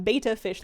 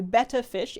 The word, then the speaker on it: betta: The technically correct way to pronounce the fish is betta fish. It is spelled with 2 T's. It is the fish. It is not the Greek letter. It is a betta fish and not a beta fish.